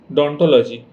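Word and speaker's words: odontology: Study of teeth को हम बोलते बोल सकते हैं ओडोंटोलॉजी। डोंटोलॉजी। ओ वो एब्सेंट रहेगा। ठीक है? ऐसे हम इसको प्रोनाउंस कर सकते हैं कि डोंटोलॉजी।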